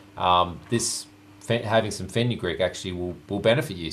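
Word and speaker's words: fenugreek: all the time but I believe this is pronounced as feny Greek f n u g r we e k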